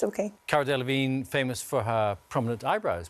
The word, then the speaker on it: Cara Delevingne: Cara Delevingne, you are close, but I'm sorry, we can't accept it. It's OK. Cara Delevingne, famous for her prominent eyebrows, particularly.